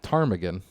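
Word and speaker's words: ptarmigan: right so there are you're not going to spell that Tagan with a pee no no you're if you had to say it you're going to say p Tagan mhm yeah and I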